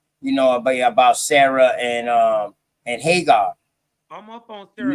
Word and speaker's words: Hagar: This is why I said that, you know, about Sarah and Hagar. I'm up on Sarah. You know what I mean? I'm up on Gagar. Right? It's Gagar.